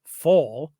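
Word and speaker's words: Pfohl: was born Lawrence Wendell fo I believe that's how you say it believe the p is silent June 2nd 1958 and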